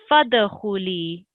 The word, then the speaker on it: فادخلي: So it's fadkhuli.